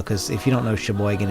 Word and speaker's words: Sheboygan: if you don't know Sheboygan it's up hol wide Sheboygan is spelled sh e like she the next word is boy like she boy GN right yes she boy